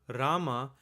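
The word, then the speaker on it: राम: So if you listen carefully, you'll see that the word Rama has two syllables, Ra and Ma.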